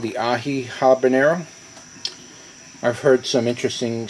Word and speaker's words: Aji: was saying uh it's actually AI Aji is pronounced AI so somebody corrected me I thank you very